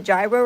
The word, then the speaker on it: gyro: Like it was like I saw this a person when I was when I was um went to a gyro restaurant.